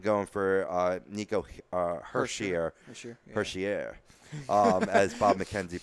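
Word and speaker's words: Hischier: on them and going for Niko Hershiser sure Hershey air as Bob McKenzie pronounced I studied it like 20 different times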